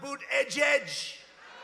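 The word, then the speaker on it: Buttigieg: you know why because nobody can pronounce his name nobody has any idea who Ned's it's they say say edge edge and he presides over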